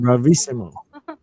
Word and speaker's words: bravissimo: This is how you say it, bravissimo.